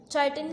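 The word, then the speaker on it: chitin: चाइटिन काइटिन की 2 pronunciations आप कोई भी यूज़ कर सकते हैं, तो इसकी वजह से इसमें भी एतराज़ आ गया।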